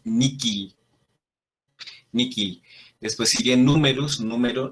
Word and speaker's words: nihil: o italia me siento es por eso lo pronunciamos nicky miki después siguen números número knox es noche